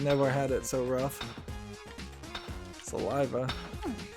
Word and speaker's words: Saliva: Saliva. I keep wanting to accidentally pronounce it as Salvi Island.